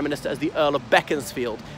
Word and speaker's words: Beaconsfield: as the Earl of Bekins field I know it's about Beaconsfield but it's pronounced beckons field which is a town